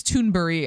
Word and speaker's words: Thunberg: Just a day after being roasted by teen activist Greta Thunberg, misogynist, it's Thunberg. I know that that's how you say her name.